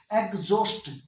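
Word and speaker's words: exhaust: एग्जॉस्ट, एग्जॉस्ट थक जाना, तो एच साइलेंट है।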